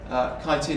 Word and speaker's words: chitin: that down form ethanol chitin or chitting depending on your pronunciation is the kind of